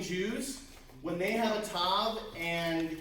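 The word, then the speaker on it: ת: Tav. Tav as in T as in tall.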